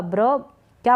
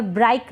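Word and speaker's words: brick: ब्र बी आर का ब्र क्या बन गया ब्रिक ब्रिक यानी कि ईट अब यहां पर ब्राइक नहीं पढ़ रहे हैं ठीक है तो इनके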